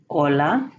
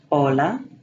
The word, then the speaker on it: hola: The H is always silent, such as hola, hija, habla. Otra vez, hola, hija, habla.